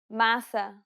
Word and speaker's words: massa: The letters A, E, and O each have an open and closed variant, and many Portuguese words differ only in the openness of the vowel.